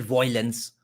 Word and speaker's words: violence: They have to call it violence or violence. Why, bro? It's VIO. It's not VOI.